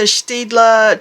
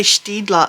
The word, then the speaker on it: Staedtler: I like to say Staedtler. I think that's the correct way to say it. I'm not 100% sure, but I know it's not Staedtler because that's just with the Aussie accent. So I try to say it like Staedtler.